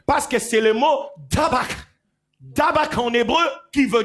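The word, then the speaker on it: dabaq: Parce que c'est le mot dabak. Dabak en hébreu qui veut dire la loyauté. Dabak, D-A-B-A-Q.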